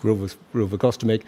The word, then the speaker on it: rilvegostomig: John Primrose couldn't pronounce it. It's pronounced rilvegostomig, and it's what we call it's the new generation of antibodies.